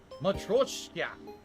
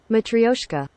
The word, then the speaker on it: Matryoshka: Matroshka.